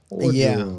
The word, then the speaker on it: Orgeron: Orgeron, is that how you say his name? Orgeron. Yeah.